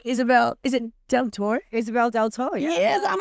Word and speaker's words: Deltore: Isabelle DelTore. Yes, I'm like, I get this right. The pronunciation of my names have been so off.